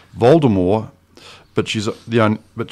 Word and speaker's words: Voldemort: was it about vort according to Harry Potter author JK Rowling the proper pronunciation of the Dark Lord's name is also the also consistent with the French vder Moore without with a silent T oh okay Voldemort not